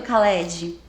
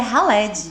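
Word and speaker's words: Khaled: Mas é a pronúncia certa seria halili porque em árabe o o K que nem lembra quem lembra do Caled? Do Sim, do cantor Caled, na verdade é Haled.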